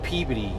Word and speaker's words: Peabody: I'm headed down to Peabody, although they pronounce it Peabody down there.